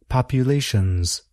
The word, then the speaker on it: populations: But why do we spell the word with an S, but produce a sound that is more like Z? That's an important question. Let's pronounce both words, population and populations.